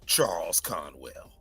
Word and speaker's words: Charles Conwell: well first of all you said it wrong you gotta say Charles Conwell I got like that